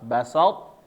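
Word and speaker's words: بسطت: Jangan sampai sa-nya berubah jadi so, ya.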